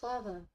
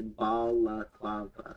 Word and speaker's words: balaclava: I think Baklava. it's balaclava. Like, and I'm sure that's probably not very helpful now that I actually say that.